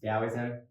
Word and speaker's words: Taoism: like taoism which is it's spelt taoism but pronounced taoism so it's really interesting but you know they